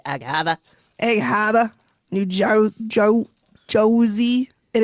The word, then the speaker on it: Egg Harbor: I was very upset when he pronounced it Egg Harbor. I'm like, come on. Come on, Steve. You know how to say Egg Haba.